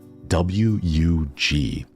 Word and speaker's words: wug: it's called a wug w-u-g is how you say it but it's like wug right but if you